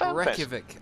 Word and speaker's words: Reykjavik: I believe it's pronounced Reykjavik. I'm pretty sure I will be corrected, really? But it's pronounced Reykjavik.